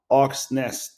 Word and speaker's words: Hawks Nest: le care manager de Hustle Up et je parle avec Jérémy Rocher, propriétaire de CrossFit Hawks Nest. Est-ce que je l'ai bien prononcé?